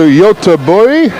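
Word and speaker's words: Göteborg: yeah yes welcome to yota boy that's my attempt at a swedish pronunciation of gothenburg i apologize to scandinavia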